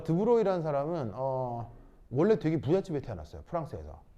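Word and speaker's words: de Broglie: 최초로 이제 그 얘기한 사람이 바로 프랑스 사람 드브로이라는 사람입니다 그 뭐냐면 발음이 좀 묘한데 프랑스 사람이어서요 여기까지는 드는데 이게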